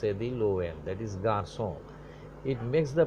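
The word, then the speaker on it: Garçon: air say axis a dingo air that is Garcon it means the pronunciation so otherwise it will be coca Q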